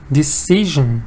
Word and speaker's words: decision: Decision. Da-da-da. Very good, Adi. Decision. Paisa, decision. 3 syllable.